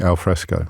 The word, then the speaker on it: al fresco: that allows us to eat al fresco which did you realize actually rhymes with Tesco 22 after 11 is